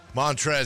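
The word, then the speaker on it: Montrezl: some things never change montre Harold done with him and his silent l in his first name just get out of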